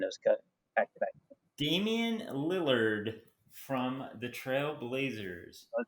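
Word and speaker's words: Damian Lillard: the nba playoffs uh i will say damon lillier lillard i would never ever pronounce his name because he wrote a million points and it was cut back damien lillard from the trail blazers i want to put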